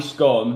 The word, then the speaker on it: scone: Bliny scone rhymes with bliny stone. To me, it's a bliny scone.